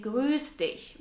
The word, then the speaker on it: grüß dich: Or you can also say grüß dich, which means greet you. Jemanden grüßen means to greet someone and is pronounced with a long stretched ü sound.